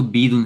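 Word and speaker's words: بِيض: लेकिन क्योंकि यहाँ पे या है, तो या का जो मैच करती है कसरा के साथ मैच करता है प्रोनाउंसिएशन, तो प्रोनाउंसिएशन की वजह से इजी टू प्रोनाउंस है ये, तो इसलिए इसको बीदुन है ये, ठीक है ना। ये बुईदुन नहीं है, अब अगर हम इसको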